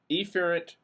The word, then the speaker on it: efferent: are carried on eent I emphasize the E here efferent neurons okay these affect